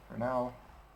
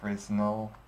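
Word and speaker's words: Fresnel: is in it is for now it's also called frel but I'm pretty sure the actual pronunciation is is um for now uh 1.45 will probably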